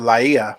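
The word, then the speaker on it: Lāʻie: uh on getting to la ia is how it's pronounced laia hawaii and uh actually it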